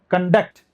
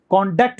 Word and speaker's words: conduct: और अगर स्ट्रेस यहाँ डालते हैं बीच में तो फिर एक कंडक्ट हो जाता है, वर्ब, कंडक्ट। कॉन्डक्ट बोलेंगे तो ये नाउन है, कंडक्ट बोलेंगे तो ये वर्ब है।